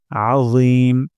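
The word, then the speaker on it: العظيم: রব্বিয়াল সুবহানা রব্বিয়াল তারপর আজিম আইন গলার মাঝখান থেকে উচ্চারণ করতে হবে আ তারপর র জিহ্বার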